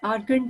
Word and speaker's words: Argand: I'm pronouncing every letter only because कि अगर आपको कोई इसमें लेटर समझ में ना आया हो तो पता चल जाए कि कौन सी लेटर यूज हुआ है। ARGAND, आर्गन diagram.